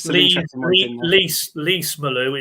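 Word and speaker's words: Lees-Melou: Lease Malou is lease as in car lease.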